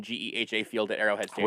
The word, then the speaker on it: Geha: I I say- so I'm- wish it was Geehaw. I'm pretty sure it is Geha. Geha. No, it's not. It I would wish be. it was. It would because the Yeehaw! Yeehaw rhymes with yeehaw.